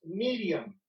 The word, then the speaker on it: Miriam: también puede ser mayor originalmente la pronunciación de este nombre no es mi maría y es miriam es una combinación de